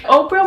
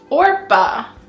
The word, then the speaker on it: Oprah: only miss Oprah Winfrey Oprah was born Orpah Gayle Winfrey most people would just simply pronounce her name wrong as Oprah so she just stuck with it now she's Oprah she